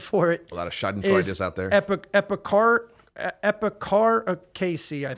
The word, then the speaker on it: Schadenfreude: It's called Schadenfreude. Schaden meaning damage or harm, and Freud or Freud. Maybe Schadenfreude is how you say it. Schadenfreude.